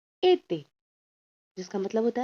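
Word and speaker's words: été: ठीक है, जिससे ई का प्रोनाउंसिएशन हो जाता है ए। ठीक है, अब इसका फ्रेंच एग्जाम्पल है एते, जिसका मतलब होता है समर।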